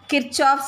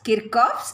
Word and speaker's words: Kirchhoff's: from thermodynamics okay so most of them pronounce it as kirchhoff's equation but i want to pronounce it as kirkhof's equation so mark it as